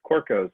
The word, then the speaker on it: Corcos: again and I know my last name is hard to pronounce its core code it's like a sounds kind of Greek but that was not